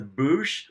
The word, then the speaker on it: Boushh: any kind of audio book, it has been pronounced as Boosh. Okay. But growing up, before I heard all this, I always pronounced it Bausch.